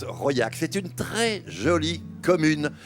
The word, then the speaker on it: Raulhac: du Cantal qui s'appelle Royac. Royac, ça se situe à 25 km à peu près d'Aurillac, vous voyez, dans ce qu'on appelle le Carladès. Ça s'écrit Rolac, mais ça se prononce Royac.